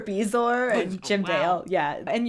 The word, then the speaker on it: Bezoar: So I have, he mispronounces a few things, like bourgeois for Bezoar and Jim Dale.